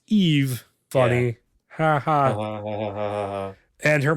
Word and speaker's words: AIV: And her name is AIV, which is pronounced Eve.